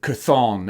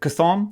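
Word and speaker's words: Chthon: serious big bad and that is cathon and that's how i'm going to pronounce it c'thon that sounds about right he is an elder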